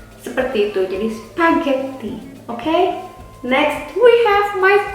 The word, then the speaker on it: spaghetti: Nah, kita punya spaghetti. How you say spaghetti? Spaghetti. Double T. Yeah, and in the H and G, you have no pressure on that.